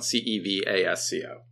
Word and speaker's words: Cevasco: And Cevasco is spelled Cevasco. Yeah, no R. There's no R. No, everyone wants to put an R in my last name, but it rhymes with Tabasco.